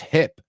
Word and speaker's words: hip: You know it because I've heard all of you say hipster, pero acuérdate, no es hip, it's hip, hip. He's very hip, right? It rhymes with tip.